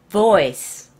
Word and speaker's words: voice: 보이스가 아니라, voice. 브. 자, 보세요. boy. 남자아이는 boy예요. 그런데, v가 들어가면, voy가 돼요. 빅토리아가 아니라, 빅토리아가 돼요. voice. 더 울림소리가 많이 나야 돼요. voice. 목소리란 뜻이죠. 발음이, B 발음과 V 발음이 약간 차이가 있어요.